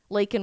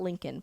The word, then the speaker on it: Laken: Laken Riley, by the way, not Lincoln, President Biden.